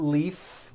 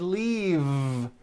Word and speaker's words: leave: with a voiced V no it's not leaf with an unvoiced F I should have said leave with a voiced V sound she just received her